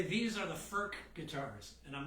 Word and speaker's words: Furch: these things get played FK is and it's it's spelled f CH I think I called it fch last week I'm sure I did it's actually pronounced FK which sounds even worse to an old Catholic